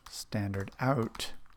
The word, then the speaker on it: stdout: right let's talk about standard out what is standard out you can see I'm using this name right here standard out which we pronounce standard out standard out is the